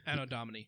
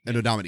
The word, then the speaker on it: Anno Domini: Like AD is How do you pronounce it? Anno Domini? Anno Domini. Anno Domini, yeah.